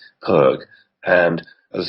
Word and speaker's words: Perque: So I use one called Perk. It's an American brand. It's spelled Perque, Perk.